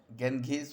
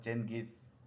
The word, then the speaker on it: Genghis: you can um boys you can pronounce it as ganges also or genghis anyone you can say genghis